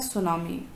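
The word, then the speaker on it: tsunami: ठीक, टॉपिक है, part of lesson है सुनामी। इसमें टी साइलेंट है बच्चों, इसको नहीं पढ़ेंगे, सीधे क्या बोलेंगे, सुनामी।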